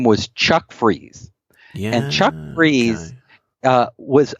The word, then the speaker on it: Fries: was in huge letters freeze entertainment spelled like fries are yes huge letters on